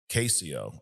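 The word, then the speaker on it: Cascio: Oh, it's pronounced Casio.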